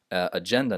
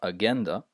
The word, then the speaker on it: agenda: And some might pronounce these words with a G sound, but it's oxygen, hydrogen, digital, not digital, agenda, not agenda, right?